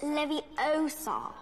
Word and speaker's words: Leviosa: and the beaters besides you're saying it wrong it's leviosa oh shut up